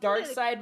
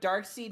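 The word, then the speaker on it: Darkseid: part inside it's dark side i know it's pronounced dark side but dark seed makes it sound less stupid um does it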